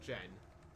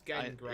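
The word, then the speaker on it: Genn Greymane: it's Gen, not Jen. Yes. Yes, I know how you pronounce it. It's Gen Greymane. Yeah, I know. Not Jen Greymane.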